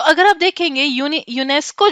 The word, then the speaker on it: UNESCO: लिया, एब्रिविएशन बना लिया, बट एज अ UNESCO ऐसे नहीं प्रोनाउंस करते। कैसे प्रोनाउंस करते हैं, यूनेस्को, यूनिसेफ, इनको हम एक्रोनिम बोलते हैं, राइट, एक्रोनिम बोलते हैं।